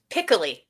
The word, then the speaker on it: Piccoli: Piccoli. Piccoli. Okay. Like Piccolo? Like Piccolo. Yeah, there we go.